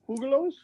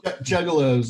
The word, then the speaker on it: Juggalos: Hugalos? Yes. What was that term for? Yeah. Hugalos. Juggalos, I think. Juggalos. Yeah. That's what you get for living in SoCal. You get like a Spanish pronunciation for everything.